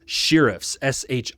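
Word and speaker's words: shirriffs: The sheriffs very timidly, and it is sheriffs, shi r i. So if you think I'm pronouncing it weird, I'm saying it like it's written.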